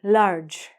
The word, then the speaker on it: large: This word, large. Large, as I told you, the E is silent.